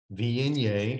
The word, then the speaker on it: Viognier: slide please all right VNA vienne is the pronunciation it is um that's